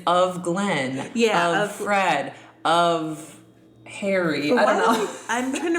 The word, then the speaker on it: Offred: But anyway, um it's funny how you you say her name is Offred cuz that's how I started reading at first, but then I realized of Fred. It's of Fred.